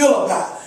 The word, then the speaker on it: Philippi: And I know a lot of people pronounce it a lot of different ways, but I'm going to say Philippi.